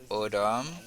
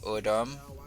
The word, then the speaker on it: autumn: The next one is autumn. Non pas prononcer N là, nous tout simplement dit autumn, autumn, autumn.